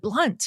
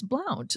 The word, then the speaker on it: Blount: No, the basketball player pronounces it Blunt. And I'm like, right, but I know her and it's Blount.